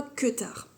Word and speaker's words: Kuutar: J'ai tricoté le Kutar Top, alors Kuutar, qui normalement se prononce, je crois, Kutar.